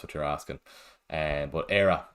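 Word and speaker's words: Éire: you're asking and but era is how is how you pronounce the the the name or the word anyway and if you know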